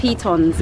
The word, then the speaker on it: Pitons: Pitons. Pitons. Pitons. The peas. The peas and the tons, which is these two mountains.